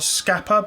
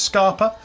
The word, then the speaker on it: Scapa: Glenkeith, Glenlivet, Glentockers, Longmorn, Milton Duff, Scarpa, or Scapa, but apparently it's pronounced Scarpa, Strathyla, and the Strathclyde Grain Distillery.